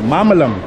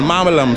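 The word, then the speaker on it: மாம்பழம்: yeah yeah yeah mangoes it's a Tamil name so this is a mamalam mamalam for one how much five kilo okay so this is this is how you say mango in Tamil mamalam so let me know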